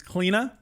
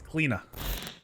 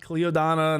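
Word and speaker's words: Cliodhna: as always number three on our list is cleena yes this is how apparently you pronounce it it's cleena not cleodonna not cledanna whatever kalina clean is one of the few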